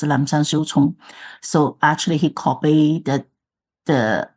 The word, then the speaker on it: Lapsang Souchong: So 正山小种, that is in Chinese pronunciation, but I think in English probably pronounced as Lapsang Souchong.